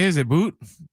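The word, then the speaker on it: Boutte: Is it Boot? It's Booty? I think it's Booty. Might be Booty. It's His last name B-O-U-T-T-E. is pronounced Booty.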